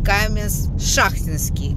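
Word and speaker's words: Каменск-Шахтинский: это Ростовская область город Каменс Шахтинский как меня один Подписчик сказал что вот сюда надо ставить ударение Но это неважно А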